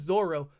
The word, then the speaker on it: Zoro: over and over again, and it says It's it like Zolo, 10,000 times. But it's pronounced Zoro.